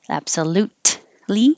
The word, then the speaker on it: absolutely: it suburban suburban absolutely you don't have to say the t absolutely because you're going to the l position right afterwards so you're already ready in the same position with the t absolut li that's it